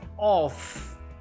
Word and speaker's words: off: or double F off so there is the preposition or double F is pronounced as off off okay now let us